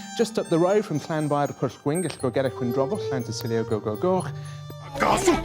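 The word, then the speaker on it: Llanfairpwllgwyngyll: Lo que casi nadie te dice es que para pronunciarlo correctamente hay que dominar el sonido de la doble L galesa, que no suena como la española, sino como un siseo lateral.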